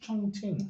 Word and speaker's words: Chongqing: Oh, was it Chongqing? Yeah. Yeah. How's it pronounced? Chongqing.